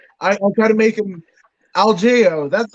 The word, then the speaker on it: Algeo: And I said Bill Alejo. I try to make him Algeo. That's how you pronounce it.